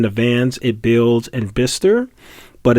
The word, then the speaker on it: Bicester: But Abelson provided a tour of Arrival's first factory in Bicester, England, a couple of hours drive northwest of London in early February.